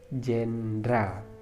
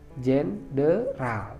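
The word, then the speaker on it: jenderal: ialah hakikat selanjutnya kata Jendral seharusnya kata tidak baku Itu ataupun kata bakunya ialah Jen deral Nah ada huruf e nya di tengah-tengah itu lalu selanjutnya kata antri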